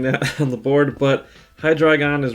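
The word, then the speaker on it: Hydreigon: on the board but high dragon is right below uh accent on the dry part and the the previous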